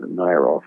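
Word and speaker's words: Nierow: So somebody must have realized that N-I-E-R would be pronounced as Nair, and O-W, like Tchaikovsky, is Tchaikovsky. So the O-W became an O-V. So it must have been Nairov.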